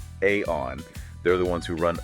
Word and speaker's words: Aion: And specifically, we're going to unpack aon management that's pronounced aon.